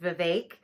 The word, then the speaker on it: Vivek: the race, Vivek, and his name is pronounced Vivek. So there's a lot of people who mispronounce his name. So please get it right. It's like cake, but it's Vivek.